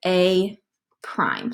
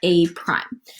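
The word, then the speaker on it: A′: little tick mark and we pronounce that as a prime so that little tick mark just we call that a prime okay so the way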